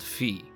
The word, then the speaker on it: Fi: loyal the correct pronunciation when you put the vowel I at the end of anything in Latin is actually supposed to make an e sound instead of an i